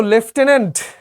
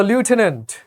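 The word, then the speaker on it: lieutenant: সো লেফটেন্যান্ট কিংবা লিউটেন্যান্ট, দুইটা উচ্চারণই correct, কোনোটাই ভুল না।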